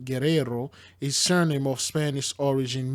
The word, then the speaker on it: Guerrero: Guerrero, Spanish pronunciation, Guerrero, is surname of Spanish origin meaning warrior.